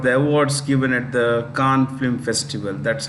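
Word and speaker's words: Cannes: awards given at the Khan film festival that's how you pronounce it Khan c-a-n-n the es is silent or you could simply say the S is silent now all of these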